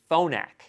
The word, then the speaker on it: Phonak: Okay, so the other thing you need to know about the Phonix hearing aid brand is that there is no Phonix hearing aid brand. The brand I'm actually talking about is Phonak.